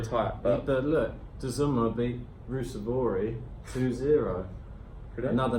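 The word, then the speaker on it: Ruusuvuori: But look, Dzuma beat Rusevori 2-0.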